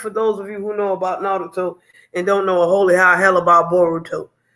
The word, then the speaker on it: Naruto: Because you ain't pronouncing the oo. You calling it root instead of like oo.